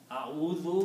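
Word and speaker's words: أَعُوذُ: So now it became au it's easy to pronounce instead of au it's easy to say au that is the word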